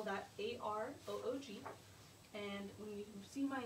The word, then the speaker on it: Aroog: And another example, my name is Aroog. I spell that A-R-O-O-G.